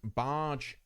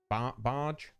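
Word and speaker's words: Baaj: And I think the first thing we're going to be doing today is looking at Barge Temple. Barge. I think that's pronunciation. B-A-A-J. Barge.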